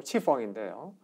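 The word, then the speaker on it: 赤峰: 그리고 만주 요하 서쪽에 이제 그 적봉시라고 하는 도시가 있습니다. 중국 발음 치펑인데요.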